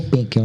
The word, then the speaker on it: Penchel: Penchel é com C-H-E-L. Ou Penkel, né? Penkel. Mas C-H-E-L. Mais fácil de pronunciar.